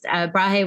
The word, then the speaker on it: Brahe: Just a side note, he was actually Brahe was I didn't know that's how you pronounced it.